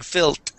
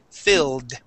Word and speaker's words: filled: going to try it at the end of the word filled ending with the D sound not a t but a d so you want to pull your tongue back because right now you're saying fil okay and your tongue